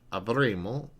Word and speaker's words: avremo: he, she will have, avremo, we will have. Remember, you only want to pronounce one M there.